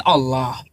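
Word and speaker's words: الله: Jadi kosakata Allah itu kalau diawali dengan fathah dan dhammah dalam bahasa Arab itu dibaca tebal gitu. Tapi kalau diawali dengan kasroh dia tipis bacanya. Jadi nggak sembarangan Allah nggak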